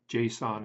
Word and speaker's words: JSON: JSON is the way that's pronounced.